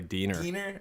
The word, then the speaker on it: Diener: that everybody gets wrong my last name is actually pronounced like wiener so it's actually döner oh man I thought